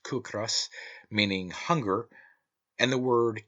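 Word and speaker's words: cíocras: Such, for instance, are the Irish words ciocras, pronounced cucras, meaning hunger, and the word kis, pronounced kis, meaning rent.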